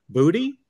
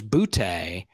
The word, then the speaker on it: Boutte: me today that Kayshawn Boutte is now Kayshawn Booty. Booty, booty, booty, booty, booty, rocking everywhere. Okay. Yeah. All right. It's interesting, right? It was Boutte. Mm-hmm. But it's Booty. He says it's Booty.